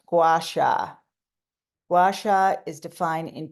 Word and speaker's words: Gua Sha: Gua Sha is a Chinese word. It's pronounced Gua Sha.